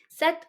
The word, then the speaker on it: sept: is six, 7 is sept. The P in this is not, you're not going to pronounce that, okay? It's silent.